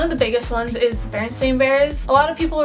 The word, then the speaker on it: Berenstain: had some doubts because I always remember it being Berenstain Bears and people are now pronouncing at berenstein bears think that just makes absolutely no sense to me but then